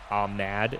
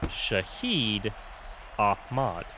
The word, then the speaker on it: Shahid Ahad: yeah that is okay some of the typing in the document looks like it said Ahad and I was like oh that's not how that's supposed to be pronounced at all cuz the way you're supposed to pronounce it is Shahid Ahad or if you are